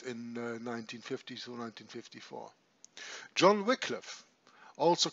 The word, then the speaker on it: Wycliffe: This is John Wycliffe, Wycliffe as some pronounce it, called the morning star of the Protestant Reformation in England.